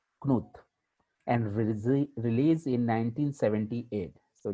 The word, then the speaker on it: Knuth: It is pronounced as Knuth.